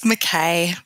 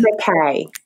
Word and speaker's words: McKay: Hi, it's McKay. But McKay.